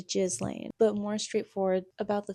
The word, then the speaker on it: Ghislaine: fashionable upper-class woman, thing Ghislaine Maxwell. And I know that's not how you pronounce your name, but that's how I'm going to pronounce it. It's Ghislaine.